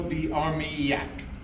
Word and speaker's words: d'Armailhac: Chateau de Armyak. Okay. So, you take that A and that I and that L and turn it into a Y and it becomes pretty easy phonetic.